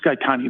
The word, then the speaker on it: Gaetani: Look, as I understand the issue here, Ms. Gaetani, that's the correct pronunciation, yes, is it not?